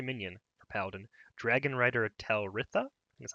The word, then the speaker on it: Talritha: Alrighty, the aforementioned buff card is a 3 mana 3/3 legendary minion for Paladin, Dragon Rider Talritha, that's how you say it.